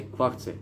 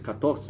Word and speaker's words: catorce: I mean 14 you say cuarce. I mean it's really 14 is catorce.